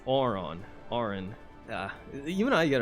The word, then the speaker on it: Auron: not Aaron it's auron Oren yeah you and I get it wrong Oren there we go not Aaron Oren there we go how